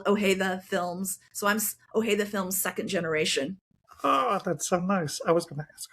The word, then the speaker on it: Ojeda: I know you have Odeja Films. Am I saying it right? It's Ojeda. Ojeda?